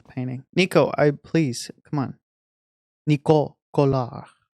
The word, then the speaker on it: Nico Collard: Nico Collard. That's how you say her name in France. In French.